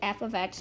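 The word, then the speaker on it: f(x): We pronounce it f of x, not f times x, not f parentheses x.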